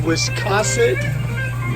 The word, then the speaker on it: Wiscasset: Well, and look, you guys come and see Sprague'S Lobster whenever you're in Wiscasset, Maine. Yep. I pronounced it right.